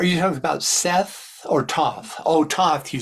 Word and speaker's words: Thoth: um it's sort of like is this prehistory to the those stories to to the witch stories thoughts how how do you pronounce it t-h-o-t-h oh oh I see or